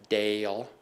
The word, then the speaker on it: Dale: So very, very talented team with John Lewis, who will be retiring in February, and then Shauna Dale, pronounced Dale, who will be our incoming finance director.